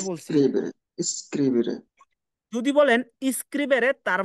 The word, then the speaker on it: scrivere: আমি কিন্তু এস উচ্চারণ করছি, কিন্তু এস বলি না এভাবে, এস, এসটাকে উচ্চারণ করছি কিভাবে? স্ক্রিবেরে। বোঝা যায় যে আমি যে এ বলছি। Scrivere, scrivere, যদি বলেন স্ক্রিবেরে, তার মানে এটা আরেকটা বেরবো আছে, সামনে আই থাকলে স্ক্রিবেরে রেজিস্ট্রেশন করা।